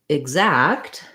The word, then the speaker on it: exact: Then when we look at something like exact, it has the stress on the zact syllable, which means this letter E is no longer going to say that red tent vowel. Instead, it's going to be a short reduced I sound, a reduced vowel instead of a clear vowel.